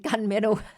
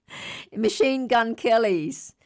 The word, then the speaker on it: Machine Gun Kelly: Sorry, I've been saying gunmetal. Machine Gun Kelly's chart. I've been saying his name wrong.